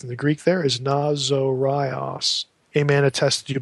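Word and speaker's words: Ναζωραῖος: Not catch the way I pronounce this. Nazorios. Notice there's a long O there. Nazorios.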